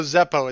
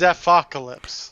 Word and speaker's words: Zephocalypse: See, there's no Zeppo, it's Zephocalypse. Whatever.